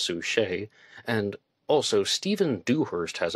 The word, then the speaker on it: Sucher: to Jack Torrance, and I've called her Harriet Sucher in the past. Her name is spelled S-U-C-H-E-R, but I saw her on YouTube. She says her name is pronounced Sue Shea.